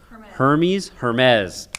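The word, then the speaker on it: Hermès: Is it Hermes or Hermes? Hermes.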